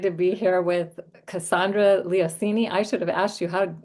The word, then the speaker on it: Leoncini: I am so excited to be here with Cassandra Leoncini. I should have asked you did I pronounce that right?